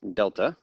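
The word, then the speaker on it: Δ: It's the capital D in the Greek alphabet, and it is pronounced delta.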